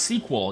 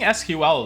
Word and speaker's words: SQL: Like I know it's pronounced sequel. I I I I I switch it up to keep everybody on their toes, you know. I like saying SQL though.